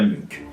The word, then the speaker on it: Munch: nom depuis des années ce n pas Munch mais bien Munk ce tutoriel vous permettra